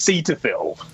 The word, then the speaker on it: Cetaphil: Cetaphil. Oh, I'm gonna say Cetaphil. I think I prefer. I really like that. It's as if you're taking a seat. It's Cetaphil. Oh, like you're filling a seat.